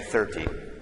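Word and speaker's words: thirty: so the stress is different so on this number we would say 13 and then the stress here is on the first syllable we say 30.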